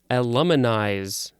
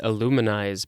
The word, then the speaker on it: aluminize: Next is aluminize. Again, I want to say illuminize, but it's not showing me that it's pronounced with an oo sound.